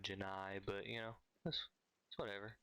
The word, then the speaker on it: Jenny: but it happens but Forrest Gump pronounced Jenny more like Janae instead of Janai but you know that's